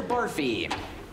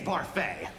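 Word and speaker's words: Barfée: Mr. Barfy. It's Barfay.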